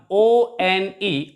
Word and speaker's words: one: position for example here the word one o n e of course it starts with it begins with the letter o which is a vowel but when we pronounce it we pronounce it like one and ver sound is a consonant sound that's why we use